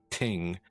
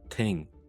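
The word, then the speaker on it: 听: Now, the symbol is pronounced ting in Mandarin.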